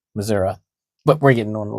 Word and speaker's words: Missouri: like they're from Georgia, but they'll pronounce Missouri as Missouri. Missouri. Because they've been there, and that's how the locals say it, Missouri.